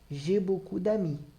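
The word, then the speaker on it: j'ai beaucoup d'amis: e aí nesse caso a pronúncia fica como se eu juntasse as duas palavras só como se fosse uma só G bocudamin jibokudami eu tenho muitos amigos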